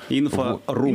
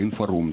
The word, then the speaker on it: Инфорум: Мы будем говорить о таком мероприятии, которое называется «Инфорум», с ударением на слове «рум». Инфорум. Инфокомната. Инфокомната. Да, как-то мы раньше называли его «Инфорум», оказалось, что это «Инфорум».